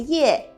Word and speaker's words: 業: 的發音，職業的業，客語呢不只要有鼻音，而且還要把嘴巴閉起來，入，入，進入重建。